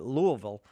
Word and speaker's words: Louisville: That's how I'm told you're supposed to say it, Louisville.